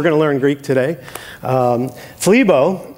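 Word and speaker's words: θλίβω: to learn Greek today FLE bo rhymes with tim tebow that's true who's right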